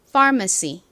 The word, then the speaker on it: pharmacy: 먼저 far 적어 볼까요 소리 나는 PH 그리고 R 소리 나는 AR 다음 머 부분은 미움 소리 나는과 어 소리 나는 A 마지막 쌍시 소리 나는 C 그리고 e 소리 나는 y 발음 한 번 더